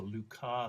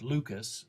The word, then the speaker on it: Lucas: This one is called the Luca sequence. It looks like Lucas, but in fact it's named for a Frenchman, so we pronounce it in the French manner.